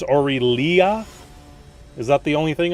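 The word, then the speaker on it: Aurelia: you know this standplay orillia not auriela it's orillia is that the only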